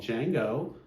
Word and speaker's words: Django: One is an instrumental called Django, and that's spelled D-J-A-N-G-O, like the Tarantino film.